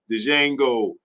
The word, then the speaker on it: Django: Django and the D is silent.